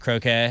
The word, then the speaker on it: croquet: and like that replaced croquet. If your last name was a Kennedy, you played croquet. Oh, the candy sp so much croquet. The word itself is French. Croquet. Um, that's how they say it.